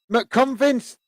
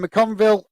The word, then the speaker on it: McConville: Oh, red card for McConvince. I can't even read his name. McCavinley for Accrington. Conville, that's how you pronounce it, has been shown a red.